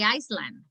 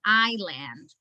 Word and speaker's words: island: all right yeah um iceland island yeah you don't say iceland you pronounce it island and there were other